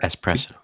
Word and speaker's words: espresso: Espresso. There's no X. Whatever. Espresso.